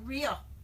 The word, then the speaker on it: Rieu: It's not Rhea. Rieu. Rieu.